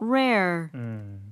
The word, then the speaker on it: rare: 앞에는 비슷하지만 뒤에는 er가 없어지니까 rare 이런 식으로 하면 됩니다.